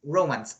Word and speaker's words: romance: It's not romance, it's romance, okay?